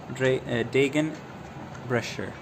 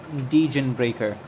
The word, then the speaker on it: Degenbrecher: So, so the ch is uh pronounced sh den brusher. It's not denreaker.